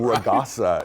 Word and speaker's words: Ragasa: Uh, Ragasa. Raasa. Typhoon. That's how you say it. Raasa.